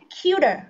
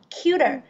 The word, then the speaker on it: cuter: sánh hơn sẽ là cuter đúng không cuter cái chữ t thành chữ đờ nhẹ đúng không Rồi so